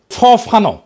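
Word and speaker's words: Fanon: ফরাসি আলজেরিয়ান চিন্তাবিদ ফানো ফানো নাম আসল উচ্চারণটা উনি বলছিলেন পরাধীন জাতিগোষ্ঠী লড়াইয়ের ভিতর দিয়ে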